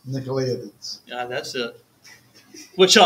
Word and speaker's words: Nicolaitans: Yet, this you have, that you hate the works of, I can't even pronounce that, Nicolaitans. Nicolaitans.